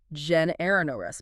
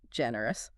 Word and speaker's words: generous: Often you hear generous, but it's actually generous, 3 syllables. Generous.